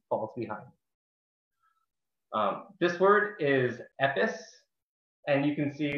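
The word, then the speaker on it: עפּעס: This word is epis, and you can see there's two options for pronunciation, also, you know, both very close, epis and epis. You know, I shake your hand from afar if you can hear the difference.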